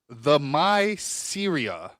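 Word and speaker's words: Themyscira: Yeah, how do you pronounce this? Them. Okay, if I break it up, it says the Myceria.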